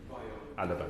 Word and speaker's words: Alaba: Did I pronounce that correctly? Alaba, Madam Chair.